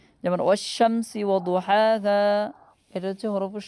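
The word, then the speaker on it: والشمس: এই হরফগুলোর শুরুতে যদি আলিফ লাম আছে তাহলে আলিফ লামের উচ্চারণ হবে না। যেমন ওয়াশ-শামসি ওয়া দুহাহা, এটা হচ্ছে হরফুল শামসি।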